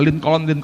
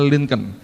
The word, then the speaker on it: Lincoln: Kalau baca jangan Lincoln, saudara. Bacanya Lincoln.